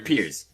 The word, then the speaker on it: Piers: And then it's just him and Pierce. Pierce. How do you say his name? Pierce? Or Piers? Piers. Okay, I'm not crazy. It's like Piers.